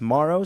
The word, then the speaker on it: Morrow: Yes, yeah, it is spelled Morrow, but we were informed by Tempo PR that it is pronounced Morrow, so we're going to work very hard on getting that.